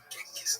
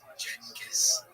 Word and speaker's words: Genghis Khan: to say the name Genghis Khan. The name has quite a few pronunciations: Genghis, Genghis, Genghis, and depending on language and history, they're all acceptable.